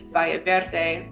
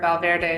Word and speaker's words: Valle Verde: Two of the most recognized examples are Casa Dorinda in Montecito and Valle Verde, also known as Valverde. That's how they say it here, Valverde in Santa Barbara.